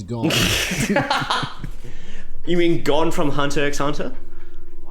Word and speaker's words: Hunter x Hunter: You mean gone from Hunter x Hunter? Actually, the X is silent in Hunter x Hunter.